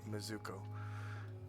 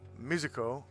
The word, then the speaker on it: Mizuko: It's Mizuko, not Mizuko. Mizuko, or Mizuko.